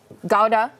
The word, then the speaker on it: gouda: big fan of like the gouda yeah gowda let's pronounce it you know tomato tomato as long as you guys